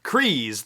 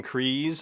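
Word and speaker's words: Kryze: the whole pronunciation thing has been settled so crees like freeze is how you pronounce bokutan's last name same with the duchess satine crees okay and the mystery of sasha banks has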